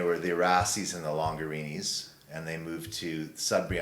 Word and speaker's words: Longarini: I always tell people rhymes with Lamborghini. And it does. Yeah. Longarini.